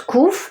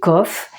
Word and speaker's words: Qof: s'écrit comme ça et ça se prononce couf mais ça peut aussi se prononcer COF et moi je préfère dire couf parce qu'en fait KOF ça veut dire un